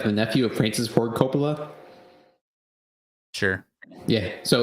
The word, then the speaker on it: Coppola: Coppola Yeah.